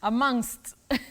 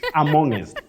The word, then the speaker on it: amongst: say on the then among not among bet have you heard people saying amongest at any time in your life absolutely amongst amongest but bet we say amongst amongst not amongest and not among okay